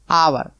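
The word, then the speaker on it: hour: कभी गलती मत करना यह एच जो है साइलेंट एच क्या है साइलेंट है यह शब्द ये अक्षर जो है आपका यच अक्षर जो है यह साइलेंट इसका उच्चारण ही नहीं हो रहा तो कितने का हो रहा केवल इतने का आवर आव मीस घंटा जैसे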